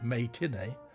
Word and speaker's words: May Tinney: Viewing the censored version, its critic, May Tinney, a play on words and also being pronounced as matinee, wrote, quote, Three Women, as it stands, is graphic and unpleasant enough.